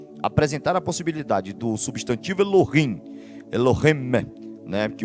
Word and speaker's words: Elohim: fala né É porque não é Elohim é Elohim esse Men esse Men ele tem essa essa questão sim no na pronúncia né eu mesmo pronunciava errado falava Elohim Elohim né Elohim né que tem essa questão no final então Eh Só que tem